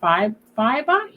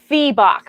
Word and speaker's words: Febach: missing pronouncing your name is it five fiber it's febach but i answer to